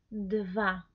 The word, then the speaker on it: dva: Entonces, nuestro número 2 es dva. Atención a la pronunciación, ¿sí? No es we, es v.